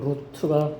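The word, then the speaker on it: רות: 원어에는 루트인데 룻이라고 이제 그렇게 통용되니까 제가 그냥 룻이라고 그래요. 루트가 정확한 발음인데 루트 보면은 러시, 그 다음에 바부, 타부 이렇게 돼 있죠.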